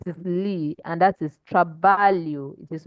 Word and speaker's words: trabalho: When you have LH, it sounds like Lee, like there's one invisible I there. Okay, so it is Lee, and that is trabalho.